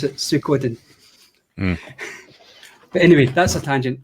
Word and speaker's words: Suikoden: about google translate a lot of westerners will pronounce it suiciding because they'll go into google translate and they'll